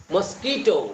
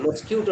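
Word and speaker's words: mosquito: বি মৌমাছি butterfly প্রজাপতি মসকিটো মশা ফ্লাই মাছি মসকিটো মসকিউটো মশা ফ্লাই মাছি এজন্য মসকিউটো বলে দিছেন মসকিউটো না মস্কিটো মসকি মসকিটো মশা বাঘ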